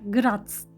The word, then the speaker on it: Graz: nehrin ismi mor nehri Bu arada grasa da grat diye telaffuz ediyorlar Burası rahat House yani